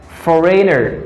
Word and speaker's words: foreigner: Foreigner.